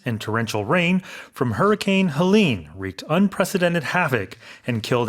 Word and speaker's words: Helene: 이렇게 60명 이상의 사망자가 나오는 그런 허리케인인데 영어로는 Helene. There's an extra E in there. 그럼 헬렌이 아니라 헬린 It's 이렇게 Helene, 발음하는군요. yes, as the name. The emphasis is on the second syllable as opposed to Helen.